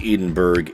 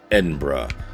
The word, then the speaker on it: Edinburgh: video I pronounced it wrong it is not pronounced Edinburgh it is actually pronounced Edinburgh so a special thanks to my friend in